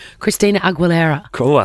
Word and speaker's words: Aguilera: All right, I've found a photograph of Christina Aguilera basically living my daughter's dream. I love how you say her last name. Aguilera?